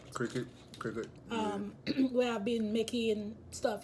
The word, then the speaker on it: Cricut: And my fiance bought, I think you pronounce it cricut. Cricket.